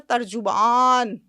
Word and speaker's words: ترجمان: ترجمان کا مطلب پتہ ہے کتنا وزنی لفظ ہے, ترجمان. آپ نے تو جیم کے اوپر پیش بھی وہ پورا ڈالا جو اردو تلفظ میں سکھایا جاتا ہے نا.